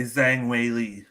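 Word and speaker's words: Zhang Weili: predict with the pronunciations it's a whaley thing right or you could say zhang whaley uh it goes both ways all right we're gonna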